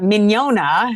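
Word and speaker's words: Mignogna: But Miniona had two silent G's.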